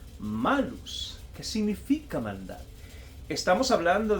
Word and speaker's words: malus: maldad, eh también es un adjetivo que se pronuncia malus, que significa maldad.